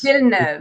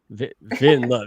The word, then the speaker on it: Villeneuve: Villeneuve. I'm ashamed. See, there's a lot of letters, but it's two syllables. Villeneuve, which means new But town, yeah, your accent versus right? mine. Vin love.